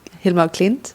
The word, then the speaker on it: Hilma af Klint: The Hilma af Klint. Yeah. Is that Am I saying it right? Hilma af Klint.